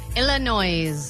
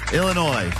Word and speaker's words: Illinois: Illinois. I don't know if I can give you the point for pronouncing the S at the end of that.